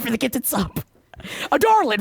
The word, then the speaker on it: Adarlan: Ottertland is how adarlin is said. Otterland. Ardolin. Ardellin. Yeah. Yeah. I think I was calling it Ardolin. Adarland. It's Adarland.